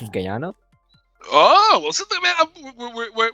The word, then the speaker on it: Guyana: It's pronounced as Guyana.